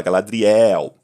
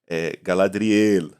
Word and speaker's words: Galadriel: Eu, inclusive, tenho tido mais cuidado na pronúncia, porque assim, o português ele abre muito as sílabas finais, as vogais nas sílabas finais, né? Então a gente fala Galadriel, né? Tem essa oxítona no final, né?